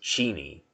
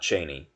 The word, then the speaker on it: Cheney: were good friends and apparently uh the correct pronunciation is cheney not cheney even everybody says cheney but you know he only has like five